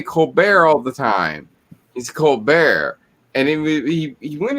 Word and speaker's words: Colbert: it's like it was like when uh stephen colbert he would he would say colbert all the time he's cold bear and then he he went into an interview